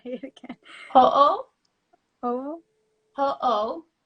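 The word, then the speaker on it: hoʻo: Ho'o? Ho'o? Ho'o. So it's H-O apostrophe O. So you say both O's.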